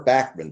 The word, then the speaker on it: Bachman: Baka Turner Overdrive or Bachman Turner Overdrive if you prefer because Randy Bachmann pronounces his last name like that.